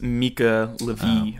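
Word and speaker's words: Mica Levi: I looked up the pronunciation last night. It's Mika Levy or something.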